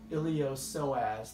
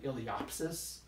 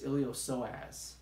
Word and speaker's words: iliopsoas: iliopsoas so that's pronounced iliopsoas the P is silent people commonly mispronounced at illy ops Asst but it's iliopsoas posterior ab wall one